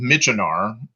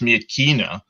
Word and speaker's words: Myitkyina: course, to get to what the Americans called Myitkyina. What I'm given to understand, and I'm no expert on the various cultures of that part of the world, should be pronounced Myitkyina, but the Americans simply called it Myitkyina, so we'll call it that today.